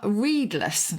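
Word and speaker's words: redeless: as in c-o-u-n-c-e-l and if you are read-less really is how we would pronounce it now r-e-d-e-l-e-s-s you look back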